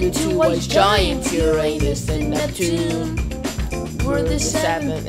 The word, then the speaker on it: Uranus: It's pronounced Uranus, not Uranus.